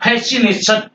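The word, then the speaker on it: fascination: ई सी नहीं बोलेंगे और फेसिनेशन आकर्षण फेसिनेशन में हम सी नहीं बोलेंगे और ये सिनेरियो सिनेरियो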